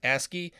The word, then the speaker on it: ASCII: dot ascii capable by the way ascii is pronounced ascii it stands for the american standard code for